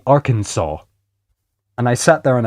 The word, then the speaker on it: Arkansas: I had an American friend of mine told me that the way that I pronounced our Kansas was incredibly wrong and our Kansas is supposed to be Arkansas.